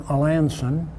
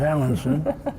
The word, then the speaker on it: Alanson: I know you live in Alanson, which some of us mispronounce as Allenson, which I've done frequently, but I didn't do it then, I hope.